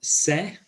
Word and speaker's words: sé: So we have yo sé, with the accent on there and the stress on the E, yo sé.